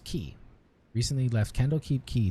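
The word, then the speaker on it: Quay: candle keep quiet key that's that's pronounced key recently left candle keep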